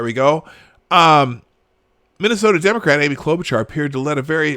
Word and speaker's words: Klobuchar: It's Klobuchar. Klobuchar. I keep saying char. She actually pronounces Klobuchar.